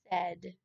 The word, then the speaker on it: said: The middle AI in this word said is sounding like a short E instead of an A or an I. That's why it's one of our sight words. It doesn't follow the normal rules.